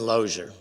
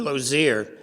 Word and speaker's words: Lozier: go that route we found another Charlotte Denman loser or Lozier as I later learned is how her name is pronounced she was one of the first graduates